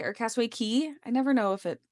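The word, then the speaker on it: Cay: I know we go to Castaway K or Castaway Key. I never know if it which one it is. I think it's Key, but it's spelled like K, Okay.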